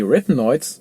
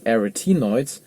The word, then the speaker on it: arytenoids: The arytenoids, or you can also pronounce them as /ærɪˈtiːnɔɪdz/, they are actually a